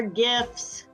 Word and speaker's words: GIF: download gifs or gifs I call them gifts with a hard G because the acronym stands for graphics interface format and that G in graphics is hard but potato patato to